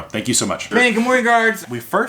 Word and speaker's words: Gamorrean: But I think it's Gamorrean guard is probably correct because he actually comes from the planet Gamorre.